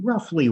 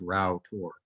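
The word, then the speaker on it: Rough Tor: at here is uh it looks like this is pronounced rough but it's not it's actually pronounced rao tour route and the neighboring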